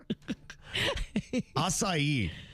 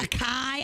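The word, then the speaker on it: açaí: First of all, didn't know how to pronounce it, right? Akai. I said akai for a few months.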